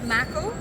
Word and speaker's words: Maco: Is it how you pronounce it? Maco or Mako? So Maco is the brand.